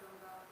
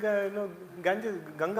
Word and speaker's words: Ganga: And why we pronounce it Ganges, why not Ganga?